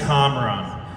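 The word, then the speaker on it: Kamran: campaign here we go see my name is comron I'm a lifelong Iranian American resident of Westchester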